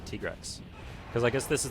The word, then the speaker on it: Tigrex: for me I guess my whole life I pronounced it tigrex my side they actually told me at tika while we were recording this they said yeah it's actually tigress cuz I guess this